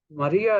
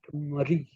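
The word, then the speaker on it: Marie: uh iteration of Maria which is m a r i e so what do you call that the Americans call it Murray the British call it Mari and we Indians since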